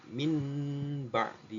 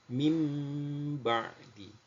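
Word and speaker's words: مِنْ بَعْدِ: yang pertama mim badi Jadi bukan Min badi bukan bukan Min tapi mim badi merubah nun sukun menjadi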